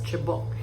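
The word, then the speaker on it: cebok: But the chabo is spelled as C-E-B-O-K but pronounced as chabok.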